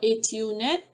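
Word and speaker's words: ATU-Net: here i mentioned about atunet atu net that is how you say it there is a secretary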